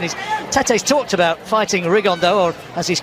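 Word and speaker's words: Rigondeaux: 3 weeks and he's T's talked about fighting riondo or as he's correctly pronounced with the uh Spanish accent rigon da and two absolute Geniuses but it could also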